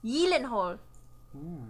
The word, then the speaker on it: Gyllenhaal: You guys all know Jake Gyllenhaal? Yeah. No. His last name is Swedish, so it's actually pronounced Gyllenhaal.